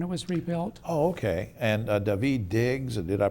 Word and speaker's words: Daveed Diggs: under 911 when it was rebuilt ok and daveed Diggs and did I pronounce that correctly April night that's correct daveed